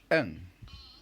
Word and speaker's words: un: let's say you pronounce them again how do you say one is n good two two is do very good three